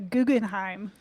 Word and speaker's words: Guggenheim: Guggenheim, right? Supernova. It's close. Close. I'm sorry. How do you pronounce that? What's the right way? It's the Guggenheim.